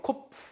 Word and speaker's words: Kopf: 코프 아니에요. 코프. F는 어떻게 발음하냐면 위에 이가 윗니가 아래 입술에 붙어서 세야 됩니다.